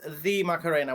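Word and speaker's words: La Macarena: The official pronunciation is the Macarena, which is not good The.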